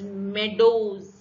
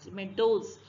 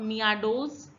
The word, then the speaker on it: meadows: so it's pronounced as meadows meadows mcdos meadows it's not mia does neither it is pronounced as meadows if it's me does